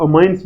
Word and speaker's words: amines: ठीक है, और कुछ कुछ लोग अमाइंस भी बोलते हैं। ठीक, तो आपकी मर्जी है, लेकिन एक्चुअल प्रोनाउंसिएशन जो है वो अमीन्स ही है।